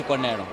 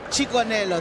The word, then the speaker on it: Chikonero: I know you're struggling a little bit there to pronounce my surname. It's Chikonero. Chikonelo, thank you so much for joining us.